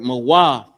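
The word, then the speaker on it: מוות: So the word mawaf. Character ma by itself, character wa, and the character tha. Mawa, right? That's how it's pronounced.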